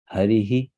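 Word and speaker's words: हरिः: be put after it which means the next word the next word will be pronounced as harihi so you see before H States e so after that also you should make a soft e harihi the previous one is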